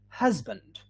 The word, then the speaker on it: husband: So we say husband. Yeah, husband. Yeah, in the middle, just like music or easy, the sound in the middle would be Z, husband.